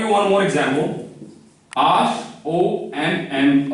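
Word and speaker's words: homme: So, this is mute, And you have just learned the last vowel is pronounced except E. E is not pronounced. So, you will just read it as Om. You will write H-O-M-M-E, but you will just write H and E. They will not be pronounced.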